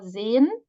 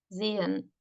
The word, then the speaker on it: sehen: So the idea is also here to help the reader that is two syllables and that this should be separated, right? That we have two syllables here. Mühe, sehen. But it has also no phonemic status, no quality, this ha.